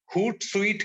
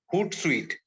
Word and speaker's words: Hootsuite: Social media tools जो है, मैं अगर उसका एक एग्जांपल दूं सिंपल सा, हूट स्वीट करके एक सोशल मीडिया लिसनिंग टूल है। इसकी स्पेलिंग है HOOTSUITE, हूट स्वीट। हूट स्वीट अगर आप उस पे